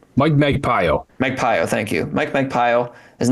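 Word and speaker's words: Magpayo: Magpio, thank you.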